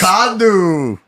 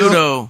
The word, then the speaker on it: Macanudo: Macandu. But I say it like how I heard it. So Motherfucker. Macanudo. He said Sorry, guys. Macanudo.